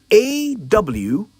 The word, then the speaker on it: awry: Another commonly mispronounced English word. I often hear people say awry when they mean to say awry. A-W-R-Y.